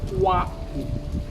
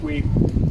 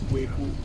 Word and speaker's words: Kweku: Now, this black man is called Philip Kwaku. The real name is pronounced Kweku, but because the British here could not pronounce Kweku, they did call him Kwaku.